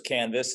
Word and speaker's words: KNVS: the concept and yeah so it's canvas it's spelled knvs some people think it's my name but it's more for canvas it's an art inspired